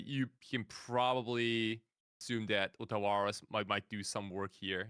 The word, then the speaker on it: Otawara: Yeah, it's called Otawara. But like if I say it like that, like no one's gonna understand what I mean. So I'm purposely mispronouncing the card right now.